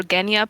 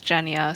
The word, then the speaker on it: Genya: hands down yeah yeah i've been pronouncing her name wrong like this entire time i think i i prefer genya personally but it's jenia so i do too